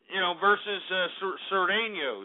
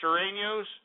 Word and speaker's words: Sureños: It's going to be like Norteños versus, Sureños. Is that how you say Sureños? Yeah, that's how you say it.